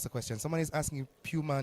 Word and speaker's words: Puma: Puma International, yes, not Puma as we always say, but Puma is the preferred pronunciation of the entity.